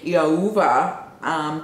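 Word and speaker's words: Thiaoouba: taken to the planet Iauva. The T is silent, but it's spelled T-H-I-A-O-O-V-A or B-A, but the B is a V.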